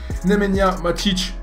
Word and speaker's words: Nemanja Matić: On se retrouve donc dans la soirée un peu plus tard pour la review de Nemanja Matić, c'est comme ça qu'on prononce, TOTS.